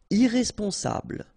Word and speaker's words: irresponsable: Irresponsable. Don't pronounce the final E.